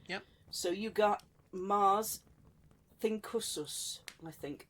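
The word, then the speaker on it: Thincsus: So you got Mars, Thinkusus, I think. Think with the C, but it's a hard C.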